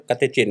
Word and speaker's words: katekin: katkin ya I Iya katekin tulisannya sebenarnya bacanya katecin Ya Kin katecin I katecinin